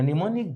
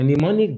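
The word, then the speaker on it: mnemonic: giving you pneumonic devices a nimonic device written this way with the initial M silent neonic a nimonic device is also known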